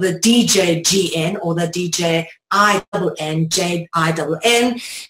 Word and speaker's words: jinn: Either spelled with a D-J-G-N or the D-J-I-N-N, J-I-N-N, jinn as in gin and tonic, gon as in dragon, gen as in genetics, or gene or genesis or genius.